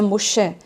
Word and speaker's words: Moshe: do nome de Moisés, que no hebraico a gente pronuncia Moshe, né? E também o nome do Messias, que a gente pronuncia no hebraico Mashiach. Então Moisés, que é o Moshe, assim como Maim, que